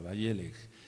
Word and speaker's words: Vayelej: título velj velj b chica a y e acento en esa e la letra l del ala la letra e la letra j veleg y si se traduce como y fue y